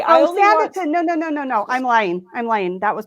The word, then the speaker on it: Sanditon: Without the extra N? Sandin. What? Sandinton. No, Sanditon. There's no N in the middle.